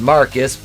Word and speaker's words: Marquise: horror calls ryan from marquise pronounced marcus because he's [ __